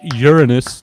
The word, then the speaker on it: Uranus: And it's pronounced Uranus, not Uranus.